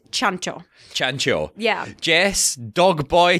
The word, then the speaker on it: Ciancio: listening will know this c i in Italian is pronounced CH so it's chano chano yeah Jess dog